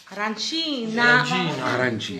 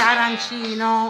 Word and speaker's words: arancina: Arancina. Arancina è singola, arancine sono tante. Okay. Però l'importante è che non si dice arancino. Arancina. Perché è catanese, è siciliano.